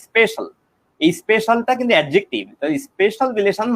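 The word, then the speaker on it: spatial: ও space relation, এটা space relation নামেই নামটা দেওয়া আছে বিসিএস এর ম্যাটেরিয়ালে, কিন্তু আসলে ভালো নামটা হলো অর্থাৎ স্পেস থেকে স্পেশাল, উচ্চারণ হবে স্পেশাল।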